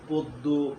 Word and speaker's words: পদ্য: 3 নম্বর সূত্র হলো অকারের পর যদি জফলা থাকে তাইলে অয়ের উচ্চারণটা ও এর মতো হয়ে যায়, যেমন গদ্য, গদ্য, পদ্য, জন্য।